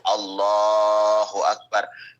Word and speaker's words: Allahu Akbar: Cara bacanya yang panjang adalah Allahnya, Allahu Akbar. Selainnya tidak boleh ada yang panjang. Kalau sampai ada satu saja selain Allahnya yang panjang, maka takbirnya tidak sah.